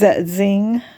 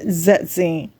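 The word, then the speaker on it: Zersetzung: It's Zetzing. That's how you pronounce that. A lot of TIs are mispronouncing it. It's Zetzing.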